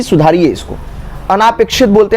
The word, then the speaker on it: अनपेक्षित: अनापेक्षित, अनापेक्षित नहीं होता, अनपेक्षित होता है, अनपेक्षित, अनापेक्षित नहीं कोई वर्ड है।